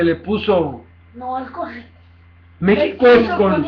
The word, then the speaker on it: México: México es con... X. Por eso, México es con X, pero se pronuncia con J. México.